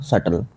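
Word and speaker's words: subtle: By looking closely I could see द सटल। सटल की spelling होती है एस यू बी टी एल ई ये होता है।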